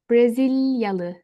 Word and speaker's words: Brezilyalı: Like I'm saying syllable to syllable. Brasilia. Tekrar, Brasilia, Brasilia. The people from Brazil, they will be called in Turkish Brezilyalı, Brezilyalı, Brezilyalı.